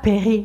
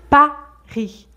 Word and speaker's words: Paris: vos petites erreurs et souvent j'entends un a qui n'est pas exactement un a qui ressemble plus à un e par exemple j'entends régulièrement euh cet été je vais à Peris mais c'est pas Peris c'est Paris Paris de la même manière